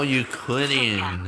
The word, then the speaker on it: Euclidean: Oh, Euclidean, that's how it's pronounced.